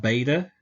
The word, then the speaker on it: beta: And then beta has a hard B sound like we have in the word ball or baptism.